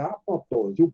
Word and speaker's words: apoptose: o camarada dizia que a pronúncia dessa palavra é apoptose. O segundo P, ele é mudo, porque veio do grego.